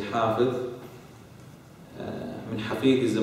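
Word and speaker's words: حافظ: Okay, someone who's Hafidh, okay, usually mispronounced as Hafiz, okay, is actually Hafidh. Someone who's a memorizer of the Quran, you say Hafidh.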